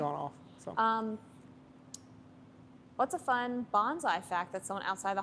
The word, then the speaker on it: bonsai: And it's not bonsai, it's bonsai, so that's an interesting fact.